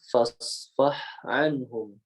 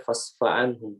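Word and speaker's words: فاصفح عنهم: Jadi harusnya fasfah anhum, fasfah anhum. Gitu. Jangan sampai fasfa'anhum, fasfa'anhum, fasfa'anhum.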